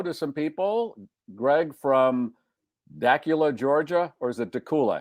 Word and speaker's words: Dacula: Greg from Dacula, Georgia. Or is it Dula? Have we decided? I don't I think he said it's not Dracula, it's Dacula. It's Dula. Okay. But it rhymes with Dul with Yeah, whatever that is.